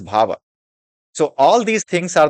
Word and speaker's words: bhava: are known as bhha b h a v just pronunciate it it is bhava so all these things